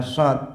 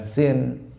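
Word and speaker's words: ص: Hadirin rahimakumullah, shadnya juga harus dibaca shad, jangan dibaca sin. Jangan mengatakan Allahumma salli, salli wa sallim misalnya, tetapi dia harus membacanya sholli pakai shad, karena maknanya juga akan berubah.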